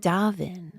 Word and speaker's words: Davin: is a cool name it's beautiful right but davin davin's also look it's a pronunciation i don't know i'm hispanic so a